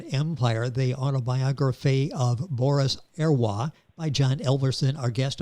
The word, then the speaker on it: Heroys: French, but I think the Russians had problems with pronunciation of French surnames, especially when they had an H, and they tended to substitute the H's with G's. So it really it changed from Herroy to Gerua.